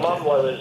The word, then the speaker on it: McDermott: Mcdermott is the pronunciation.